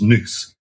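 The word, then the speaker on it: nos: a GopherCon talk that surely should be pronounced Goose equals noose.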